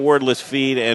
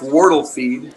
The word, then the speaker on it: Wardle Feed: Yeah, it's actually pronounced Wardle Feed. Wardle.